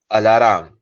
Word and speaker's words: alarm: The next word we're doing is alarm, not alarm. A lot of people say alarm, but it's not alarm. It's 2 parts. Alarm, not 3 parts.